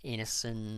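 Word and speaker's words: Ineson: Taylor Johnson William defo Emma Corin uh Ralph Inon that's how you pronounce his last name and uh Etc so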